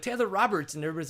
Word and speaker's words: Robert: is actually French, and in France it's pronounced Robert, which sometimes you'll hear Dave Brocious call me Taylor Robert. Robert. If you're at an Endurocross race. It's definitely sexy. But I'm not gonna lie. Yeah, I pronounce it Robert.